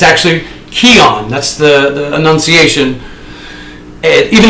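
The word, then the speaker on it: Quion: given the NCAA band from the postseason I mispronounced his name I said his name was Quan Williams not true listen to Boynton sound it out it's actually Keon that's the Annunciation and even though it's spelled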